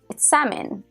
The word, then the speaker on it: salmon: said Sam a salmon and he was like salmon I can't believe you don't know that and